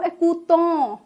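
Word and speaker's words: écoutent: ज एकूत, थ्यू एकूत, इल एकूत, नु एकूतों, वू एकूते, right? Wu एकूते, ill plural and L plural एकूत, क्योंकि ई एन टी साइलेंट होता है।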